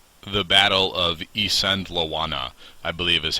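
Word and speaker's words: Isandlwana: uh specifically a battle called The Battle of isand laana I believe is how it's pronounced um Ean Lana the battle that rocked Victorian Britain as it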